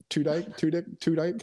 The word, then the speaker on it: Tudyk: Where the guy jumps into it, trying to get Alan Tudyk.